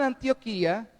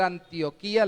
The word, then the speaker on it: Antioquía: se convirtió al señor los colombianos tendemos a leer un poco diferente en vez de leer antioquia leemos antioquia por como lo pronunciamos en nuestro país con respecto al departamento